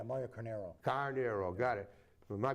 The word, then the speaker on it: Carneiro: Carneiro's, sorry, that's how you pronounce it, right? There's no I in the end. Yeah, Mario Carneiro.